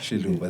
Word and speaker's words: Xiluva: Xiluva, there we go.